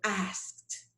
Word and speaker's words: asked: ed and it becomes asked i have to pronounce the idi like a little t sound so i don't say ask ask no it's as asked she asked me for